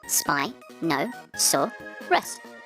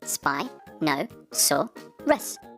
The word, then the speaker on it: Spinosaurus: learn all about spinosaurus how do you say that again spy no saw russ can you say it with me spy no saw russ do you know how